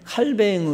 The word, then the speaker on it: 칼뱅: 불리우는 세계적인 신학자 입니다 칼빈 칼뱅 으로 발음 하기도 합니다 그는 40대 반혁명 당을